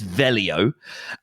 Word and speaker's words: Veglio: it can be challenging it's Swiss Italian so there are two ways of pronouncing it so you can either